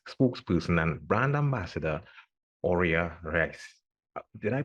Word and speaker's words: Aurea Reis: development manager Ted X spokesperson and brand ambassador Ora rice did I pronounce that correctly that that was actually very